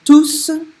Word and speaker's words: tous: Les enfants sont tous contents. But on the right hand, now here we're using tout T-O-U-S, as an adjective, comes before the subject and verb. Don't pronounce the S.